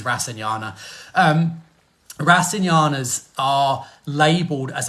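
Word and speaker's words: rasayana: briefly yesterday so so there's a different pronunciations rasana is is one pronunciation Ras is another I use rasana um rasinas are labeled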